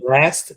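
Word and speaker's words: Blxst: think you pronounce it last that's what i think that's how i think you pronounce it b-l-x-s-t pronounced blast and then of course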